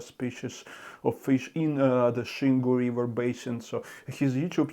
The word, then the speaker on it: Xingu: world are actually saying zingu but the correct pronunciation is shingu because this is how it's pronounced in Portuguese and I've seen so